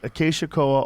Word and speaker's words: Acacia koa: species Acacia koa only grows. Is that how you say it? Yes. Acacia koa only A koa tree.